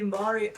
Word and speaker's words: Mbari: He's developed, and again, correct me on my pronunciation if I'm wrong, Mbari? Is it Mbari in Harare? Okay, he's founded the Mbari Art Space to teach his own community how